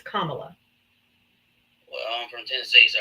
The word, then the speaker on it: Kamala: people that vote for Camala or anybody. Her name is Kamla. You can't even say her name. It's Kamla.